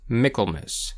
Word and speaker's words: Michaelmas: Though the name is pronounced Michael in English, the correct pronunciation of the holiday is Miklmiss for Michael's mass. A bit like Christmas rather than Christ mass.